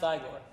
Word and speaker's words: Igor: Oh, well, actually, it's pronounced Igor. But they told me it was Igor. Oh, well, they were wrong then, weren't they?